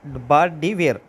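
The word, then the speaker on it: Bart De Wever: correct answer है बा डी वीर वीवर बोल लीजिए जो जैसे आपको प्रोनाउंस करना है वीवर वेयर ई वी को थोड़ा साइलेंट कर लीजिए ब डी वेयर ठीक है इसका करेक्ट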